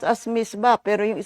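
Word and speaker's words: mitzvah: Misba is it is pronounced as misba pero iyung spelling niya o m i s w a h.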